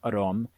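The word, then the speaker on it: อารมณ์: In the Thai language, the word aramana, pronounced arom, always means the emotions, and sometimes in this book it also means the emotions.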